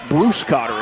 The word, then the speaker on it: Bruscotter: jumper there by alex bruscotter check that bruce cotter is how that name is pronounced kind of like the first name at least at the beginning of the name little drive to the